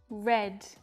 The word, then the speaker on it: read: Read, read, and read. Notice the pronunciation changes, but the spelling stays the same.